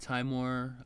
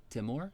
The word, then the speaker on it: Timor: Singapore, East Timore. Oh, yeah. Like Vietnam and Philippines are right there. Did you say East Timore? Timor. East Timor. I don't know how to pronounce it. Yeah. Yes, it's Timor.